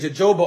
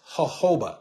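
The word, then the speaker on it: jojoba: and this was hoba now it's spelled Joba so when I first got involved in essential oils I was running around saying Joba oil sounding like an absolute I didn't know it is hoba I did not know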